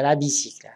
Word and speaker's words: bicyclette: Alors, les yeux brillants, moyens, il y a la bicyclette. Voilà, la bicyclette. Voilà. Il y a Y ici, mais il se prononce comme I.